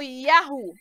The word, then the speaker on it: Yahu: Pois bem, vimos que o bigrama, as duas letras Yud, He, se pronuncia como Ya, e o trigrama Yud, He, Vav, né? Como Yahu.